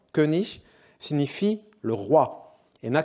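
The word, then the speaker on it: König: différence de sens notable le mot allemand kunich qui est prononcé qui est prolongé en allemand moderne sous la forme kenich signifie le roi et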